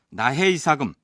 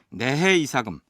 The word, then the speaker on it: 내해 이사금: 만나본 신라사 전공 교수들 중에는이 글자를 나보다는 나로 발음해서 나해 이사금 나무랑이라고 부르는 경우가 더 많았습니다 그런데 초중고등학교 교과서에는 아주 오래전부터 무왕이 아닌 내물왕 표기하고 있고 지금도 그렇게 올라 있습니다 두 발음을 모두 사용하되 해설 부분에서는 내해 이사금 내 무왕로 통일해서 칭하도록 하겠습니다 제 10대 임금인